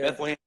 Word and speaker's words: Bethlehem: Is that the right pronunciation? Yeah. Bethlehem, Pennsylvania in June, was it 23rd?